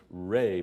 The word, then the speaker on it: Ra: eye of light was raah pronounced Ray by the Egyptians when Ray Rose from